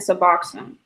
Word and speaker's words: Suboxone: What's the right pronunciation for it? Naloxone And Suboxone.